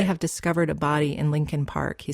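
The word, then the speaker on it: Leakin Park: k i n but almost everyone in Baltimore pronounces it Lincoln Park it's huge over a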